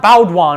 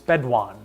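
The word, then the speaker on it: Baudouin: to pronounce it bedouin it's not bauduan it's bad it's bedone i think anyway i mentioned quiz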